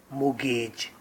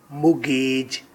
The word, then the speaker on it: mortgage: Topic: Mortgage. Right pronunciation is mortgage, ना के mortgage इसकी pronunciation है according to Oxford Dictionary.